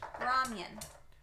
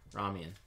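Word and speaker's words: ramyeon: Ramen. It's pronounced Ramen. Ramyun. Ramyun.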